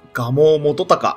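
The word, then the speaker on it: 蒲生元隆: これは、蒲生元隆って読みます。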